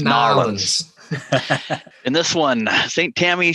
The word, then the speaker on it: New Orleans: That's how they say it. I was going to say New Orleans, but it's New Orleans.